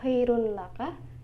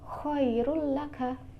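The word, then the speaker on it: خَيْرٌ لَكَ: Kemudian contoh selanjutnya khairul laka, bukan dibaca khairun laka tapi khairul laka.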